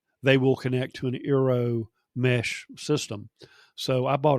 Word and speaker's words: eero: So I went with the Amazon Aero, and that's spelled EERO, mesh Wi-Fi system.